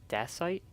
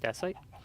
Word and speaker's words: dacite: This is called dacite. I think that's how it's pronounced, dacite.